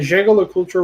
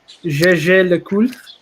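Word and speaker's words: Jaeger-LeCoultre: The Jaeger Le Culture Reverso. Actually, in French, let me pronounce it properly. Jaeger Le Culte. Jaeger Le Culte. That's how you do it.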